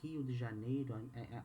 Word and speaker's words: Rio de Janeiro: sao paulo city and rio de janeiro in portuguese hill de janeiro i'm gonna say in portuguese to for you to know the the pronunciation we have the state